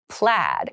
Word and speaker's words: plaid: There's an ai in there, but it's pronounced plaid.